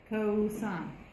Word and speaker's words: cosine: We say cosine. We abbreviate the word, not the pronunciation.